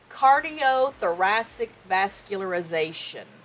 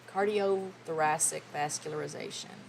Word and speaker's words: cardiothoracic vascularization: ear nose and throat cardiothoracic vascularization how many how many syllables is that cardiothoracic vascular ularization. 12 syllables, 29 letters. That is heart and lung surgery. Cardiothoracic vascularization.